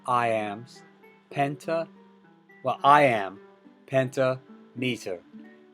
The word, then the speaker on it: pentameter: so it's the same we don't say penta meter we say pentameter pentameter pentameter okay a ambik pentameter